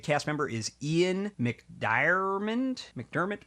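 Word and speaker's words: McDiarmid: McDermott probably is how you pronounce it, but it's MC D I A R I M D.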